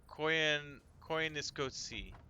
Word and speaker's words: Koyaanisqatsi: Okay, pronounced Koyaanisqatsi. Koyaanisqatsi.